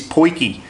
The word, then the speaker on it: potjie: pronounce that word that the proper pronunciation of it is poiki and I've been told